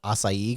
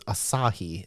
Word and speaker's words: Asahi: And I've seen this for a while and I kept calling it acai because I didn't know how to pronounce it. Y so it's Asahi 0%.